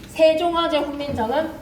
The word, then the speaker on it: 세종어제 훈민정음: 생종쟁 훈민정음이라고 읽으면 안 돼. 세종어제 훈민정음.